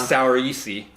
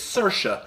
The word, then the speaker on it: Saoirse: how to say her name properly it's not sour ICI oh yeah it's Saoirse it's she's Irish she's been making the talk